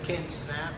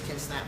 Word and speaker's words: Snapp: I'm like, no, it's like snap your fingers. Right. Right. Snap your fingers. So or we got the page Ken Snapp for mayor of Detroit on Facebook too.